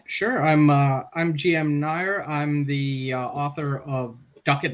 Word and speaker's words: Nair: I'm uh I'm GM Nair I'm the author of duckett and Dyer dicks for hire which also unfortunately rhymes with my last name which I I didn't